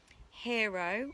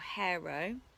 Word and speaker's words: Hero: the governor of messina hiro or hero depends how you want to pronounce it or i might get